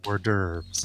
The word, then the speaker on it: hors d'oeuvres: And your aunt kind of looks at you like, I wonder if he really knows that it's pronounced hors d'oeuvres.